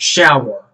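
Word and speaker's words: Schauer: shows okay okay so angry beavers as creators last name is pronounced shower okay good to know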